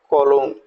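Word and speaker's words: cologne: अब देखिएगा कॉलोन, जी को हम साइलेंट छोड़ दें, कॉलोन।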